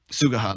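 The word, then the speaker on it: Suguha: Sugaha. That's it. Yeah, I knew I wasn't pronouncing it right.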